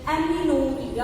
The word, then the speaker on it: amenorrhea: And the third one, lactational amenorrhea. How to pronounce this?